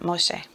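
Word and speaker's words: משה: need to put that close that syllable Moshe all right now they say it quicker than that Moshe so that's so interesting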